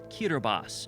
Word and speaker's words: Kiribati: Half a world away and surrounded by the Pacific Ocean are 33 picturesque islands which make up the Republic of Kiribati, or Kiribati as locals say.